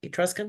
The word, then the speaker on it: Etruscan: I listened to your last release, Etruscan Soul. Is that how you pronounce it? Etruscan? Yes, yes.